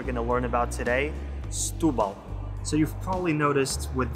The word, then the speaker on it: Setúbal: that in european portuguese we tend to smush our words together around the stressed syllable in this case it's the u with the accent on top stupa so you rush